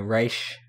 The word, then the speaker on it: Ra's: character as Ra's al Ghul, or Raz, or Raze, I don't know, Rash.